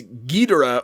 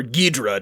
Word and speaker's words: Ghidorah: so it's spelled differently it's king gidera um but like it's gidera or guidra depending on the americanized whatever um and the way